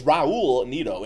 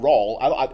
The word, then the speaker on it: Raul Neto: It's Raul Neto. It's not Raul.